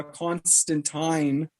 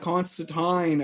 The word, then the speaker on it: Constantine: might name them constantine but even though the pronunciation of the name is uh constantine not constant tying in the comics is english yes it's constantine apparently in the original in the older one